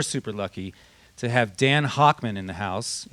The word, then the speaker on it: Hochman: We're super lucky to have Dan Hochman in the house. It's Hochman, right? Did I pronounce it right?